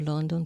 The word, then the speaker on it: London: London I went to London to learn English London London London to London London the first syllable and the second syllable are pronounced identically la la London London